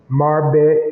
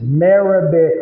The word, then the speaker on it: Marabet: And then she got the link right on here on her Facebook, Marbet and Tea, Marbet and Co. Tea and Hospitality. Marabet, and I'm still saying it wrong. It's Marabet.